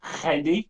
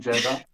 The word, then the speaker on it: Jedi: It's pronounced Jedi, not Jedi.